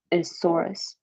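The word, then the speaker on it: sorus: called sore eye or singular isaurus like Brachiosaurus but it's spelled s-o-r-u-s which is kind of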